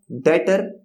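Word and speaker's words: debtor: यहां पे पढ़ते हैं डेटर और क्रेडिटर डेटर की यहां पे स्पेलिंग में आप बी देख सकते हैं बट बी यहां पे साइलेंट होता है यहां पे क्या लिखा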